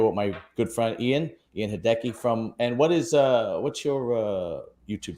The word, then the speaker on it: Heydecke: Last name is Heydecke. So it's like hey, like I build on a deck, E. So but you pronounce this Heydecke. Oh, okay, Heydecke.